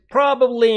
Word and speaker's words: probably: It is pra, not pro, probably.